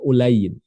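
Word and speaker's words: Ulayy: Jadi ini bukan Ali tapi Ulayin, bitasyir, dibaca dengan tasyir.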